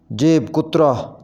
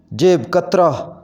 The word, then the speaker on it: جیب کترا: پڑھیں گے چلغوزہ، چلغوزہ۔ جیب کترا، یہ اس کا غلط تلفظ ہے، صحیح تلفظ ہوگا جیب کترا، جیب کترا۔ جدول، اس کو صحیح